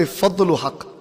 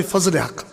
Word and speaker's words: Fazl Haq: I said, I don't say Fadlul Haq. Fadlul Haq. You know, like with the Arabic style. I say Fazl Haq. Because that's how his mother would have pronounced it when she called him.